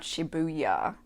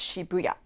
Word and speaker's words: Shibuya: It's not Shibuya, it's Shibuya. And then Harajuku, everybody pronounces it wrong.